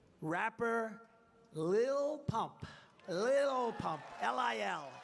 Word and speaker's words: Lil: Lil Pump, L-I-L, Lil. I said, how do you pronounce that? They say Lil.